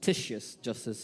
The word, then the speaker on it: Titius Justus: Entonces salió de ahí y fue a la casa de Ticio Justo, Titius Justus is the right way to say it.